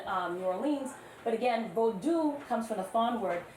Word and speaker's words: Vodou: So you're hearing me already say bodu not voodoo. Why is that? And then you can just read. But why why bold not voodoo? My students should know this. Don't you embarrass me. Why vodu not voodoo?